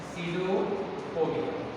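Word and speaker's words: pseudopodia: पी इसमें silent होता है, सीडोपोडिया।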